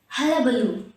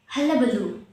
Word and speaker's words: hullabaloo: so say after me halabaloo halabaloo stressing on the last loo halabaloo so hullabaloo means